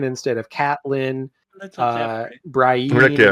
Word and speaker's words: Catelyn: Caitlin instead of Catelyn. Little Jeffrey. Rick, Brienne yeah. instead of Brienne. So he's mispronouncing things.